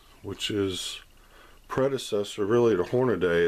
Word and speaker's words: Hornady: It's not Hornady, it's Hornady.